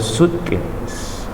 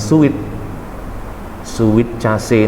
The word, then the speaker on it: suitcase: A stranger is approaching her bringing a suitcase. Bacanya jangan sweet case ini bacanya jangan sweet case you know. Bacanya suit aja ya, suitcase. Jangan sweet case, suitcase. SUT lah, suitcase.